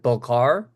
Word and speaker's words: Balkar: sure I say your name correctly is it belar yeah belar B I just want to make